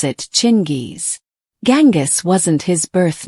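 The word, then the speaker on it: Chinggis: In Mongolia, the G is soft. So, if you want to be accurate, you should pronounce it Chingis.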